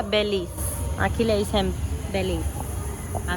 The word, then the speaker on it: Belize: Se escribe Belice y se pronuncia Belis.